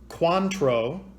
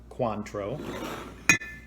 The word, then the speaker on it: Cointreau: To make this drink, you will need tart cherry juice, silver Patron, Cointreau, an orange liqueur, and that is how you pronounce it. I looked it up, Cointreau, and grenadine.